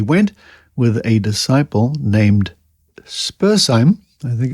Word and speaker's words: Spurzheim: On being forbidden to promulgate his teachings further in that country in 1802, he went, with a disciple named Spurzheim, I think it's pronounced, to France and England, and there spread his doctrines.